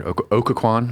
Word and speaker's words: Occoquan: Pastor Okaquan. Am I pronouncing that? Aquan.